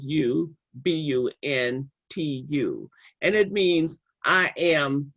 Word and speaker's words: Ubuntu: So there is a wonderful word in the South African culture called Umbuntu, and it's probably a word that you know. It's spelled Ubuntu, and it means I am because we are.